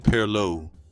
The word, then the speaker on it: perloo: Number 10, chicken perloo. Perloo is the Gullah pronunciation of pilau, and pilau is a word that traveled out of West Africa with the rice itself.